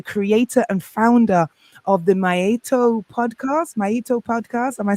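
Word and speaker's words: Maa'itu: Well, Maito, it's pronounced Maito, and a lot of you who are listening from Kenya will understand it. It's from my mother tongue, and it means mother. It's what we call our mother, Maito. The word is spelled M-A-A and then apostrophe and then I, like the show, I-T-U.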